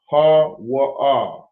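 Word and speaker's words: هو: So every character is pronounced singular. Alright, so I'm going to show you. We'll come out the way. Ha-wa-ah, ha-wa-ah, ha-wa-ah, ha-wa-ah. That's how you say he.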